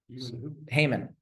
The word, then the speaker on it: Haman: Haman. I use the Hebrew pronunciation.